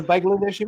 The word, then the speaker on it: Bangladeshi: Bangladeshi, not Bangladesh. All right, Bangladesh me. Bangladeshi. Okay, Bangladeshi, not Bangladesh. That's you pronunciate.